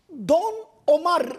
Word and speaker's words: Don Omar: Ondan sonra bir de Don Omar yazılır, Ömer okunur.